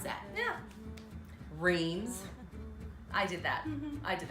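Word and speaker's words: Reims: are e I am s how would you pronounce that yeah rains I did that I did that but we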